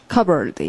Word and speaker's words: cupboard: P 발음하지 않습니다. 자, 소리가 cupboard.